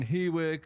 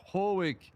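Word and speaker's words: Hawick: Uh I hear a lot of people on the coms saying, "Oh, they're on Hwick or they're on Elgen." And I would just like to see that they're not they're actually pronounced Hoek and Elgen.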